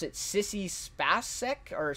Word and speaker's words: Spacek: Some amazing acting by, I believe you pronounce it Sissy Spacek, or Spacek.